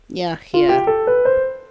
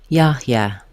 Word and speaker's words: Yahya: Yahya. The first letter A in Yahya says the ah vowel like father. Yahya. Letters HY say he, very short and glided to the last a sound. Yeah. Yahya.